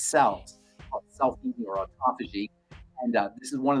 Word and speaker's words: autophagy: How do you say autophagy? Autophagy. Autophagy. Phagy. Autophagy. Phagy. P-H-A-G. Phage means to eat. Auto means self. Autophagy means self-eating. So essentially, the body cleans out all of its cells. Self-eating or autophagy.